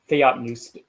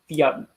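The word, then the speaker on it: θεόπνευστος: Theopneustos is actually the P is pronounced.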